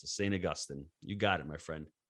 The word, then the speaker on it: St. Augustine: That's the right way to pronounce it. St. Augustine.